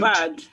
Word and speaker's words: bad: The comparative adjective of Bed. Bad. bad. Not. Let's get that pronunciation right. Not bed. Bad. Bad. With an like that.